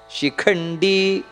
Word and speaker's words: ಶಿಖಂಡಿ: ಇಷ್ಟೋ ವಿಶಿಷ್ಟ ಶಿಷ್ಟೇಹ ಶಿಖಂಡಿ ಖ ಅನ್ನೋದು ಮಹಾಪ್ರಾಣ ಶಿಖಂಡಿ ಶಿಖಂಡಿ ದೀರ್ಘ ಇದೆ ನಹುಶೋ ದೀರ್ಘ ಇದೆ ವೃಷಹ